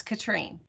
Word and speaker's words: Catherine: Yes, Are- and mine is actually pronounced Katrine. It looks like Catherine, but it's Katrine.